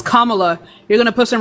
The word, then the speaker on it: Kamala: That's not how you pronounce her name. Kamala? Did you watch the debate? Yes, I did. How does she pronounce her name? Why would I focus on that? Kamala? Fucking embarrassing. Her name is Kamala.